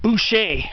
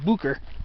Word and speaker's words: Booker: You'd think the name was French, like Boucher, but it's actually pronounced Booker.